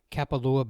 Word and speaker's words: Kapalua: Yeah, we went to Kapalua Bay.